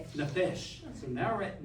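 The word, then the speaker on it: נפש: Neesh. Nefesh. So now we're at nephesh.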